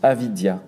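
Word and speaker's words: avidya: ensuite il y a avidia comme ça se prononce avidia a v I d y a qui est l'ignorance le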